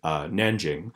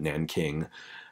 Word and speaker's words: Nanjing: Shanghai, I mentioned earlier, Beijing, the capital, and Nanjing, which was, we know that there's like different ways of spelling and pronouncing Chinese terms, and Nanjing is the name of the city now, but they called it Nanking back in 1937.